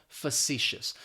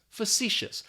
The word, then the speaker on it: facetious: way that it's spelled facetious that first syllable is going to have that schwa that pha and we're just basically going to pronounce the letter c facetious and what it means